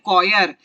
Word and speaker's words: choir: English को इसको में हम इसको कहते हैं कॉयर, CHOIR, कॉयर। ठीक है, CHOIR इसकी स्पेलिंग है।